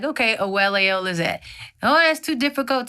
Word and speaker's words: Oweleo: So Oweleo, am I pronouncing that correctly? Yes, Oweleo.